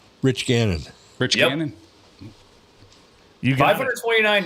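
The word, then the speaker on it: Gannon: H rhymes with Cannon. Rich Ganon.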